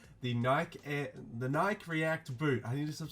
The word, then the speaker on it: Nike: look we've got the new silhouette there the Naik react boot I actually said it right this